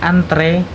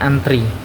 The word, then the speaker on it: antre: kita membacanya atlet kemudian ada antre yang kita bacanya antri dan atau e yang